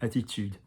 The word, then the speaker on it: attitude: Yeah, ude. Lovely use of the u. So like you, tu, tude, attitude.